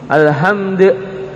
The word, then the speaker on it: Alhamdulillah: Ini dalnya tinggal qalqalahnya saja. Alhamdulillah.